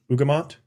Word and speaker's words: Ugamont: Tell us a little bit about, again, correct me, pronunciation, Ugamont? Yeah. Oh, I got it. Yeah, there you got it. Spot on.